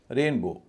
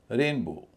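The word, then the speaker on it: rainbow: रेनबो रेनबो आप देख रहे होंगे रेन पे मेरा ज्यादा स्ट्रेस है वो पर कम है। रेनबो इसी तरह क्लासमेट क्लास और मेट उच्चारण में कोई अंतर नहीं आ रहा।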